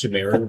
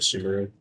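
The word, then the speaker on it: Sumeru: I know it's Sumeu, but I pronounce it Sumaru, and I'm not going to change that. Sorry.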